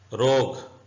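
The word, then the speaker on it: rogue: मतलब होता है इमारत रोग यू साइलेंट है रोग का मतलब होता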